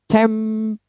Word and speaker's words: temporary: Kemudian temporary. Temporary. Temporary. Tem-nya yang di stress.